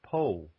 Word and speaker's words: Pau: Well, I'm actually 20 kilometers south and west of Po, which I used to call Pau until I learned better.